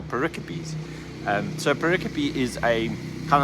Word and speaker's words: pericopes: And the one I've realized that I think I've been getting wrong all this time, I've been calling them pericopes, where they are pericopes.